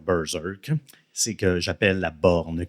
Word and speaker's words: Berserk: J'aime bien dire Bersek, mais ça va être Bzerk.